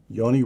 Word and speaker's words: Yoni: Your older brother, Yoni, am I pronouncing that correctly? Yes. Yoni.